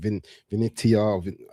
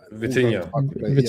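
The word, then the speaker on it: Vitinha: Vinitia Vitinia.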